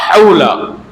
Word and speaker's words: حول: ضروری ہے۔ اب لا حول، حول میں جو ہا ہے وہ بڑا ہا ہے، لا حول ولا قوت الا باللہ، تو ہا بھی یہاں حلق سے نکلتا ہے، اور قاف